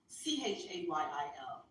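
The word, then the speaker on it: חַיִל: So when he said, Hayil means wealth, I didn't hear it. And let me go to Hayil. It's spelled in the phonetics we have now. Chayil.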